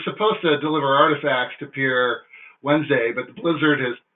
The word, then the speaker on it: Pierre: Dakota which is it's spelled pierre is from pronounced Pierre that's yourself Dakota tip for the day and